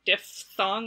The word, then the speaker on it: diphthong: pronounce those words and i say manoff thong and diphthong with a ph in the middle um but i know a lot of people say man up thong and dip thong and i was